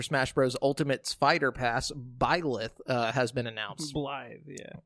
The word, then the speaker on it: Byleth: Ultimate's Fighter Pass, Byleth, has been announced. Blythe, yeah. Byleth. Huh? It's Byleth. No. And I watched the video. It's Byleth.